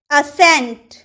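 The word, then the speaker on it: ascent: तो जब भी आपके किसी वर्ड में एस के बाद अगर सी आए ना, तो आप सी का उच्चारण नहीं करिएगा, ठीक है।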